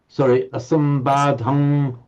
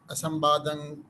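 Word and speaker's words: asambādhaṃ: However, the poet here has wanted to make it a long syllable, and therefore it's written as a subdotted M, the anuswara M, and so it becomes averang, asambadhang, averang, asapatang.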